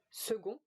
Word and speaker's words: second: In second, it's the sound G.